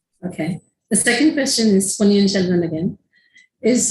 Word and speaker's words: Ponniyin Selvan: So first, can I correct the pronunciation? It is Ponniyin Selvan.